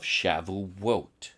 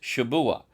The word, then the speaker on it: Shavuot: This is the same Hebrew word as the biblical feast of Shavuot, Shabua. There is no such word in ancient Hebrew as Shavuot, by the way. It is Shabua in Hebrew.